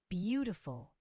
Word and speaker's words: beautiful: Beautiful. The first syllable is stressed.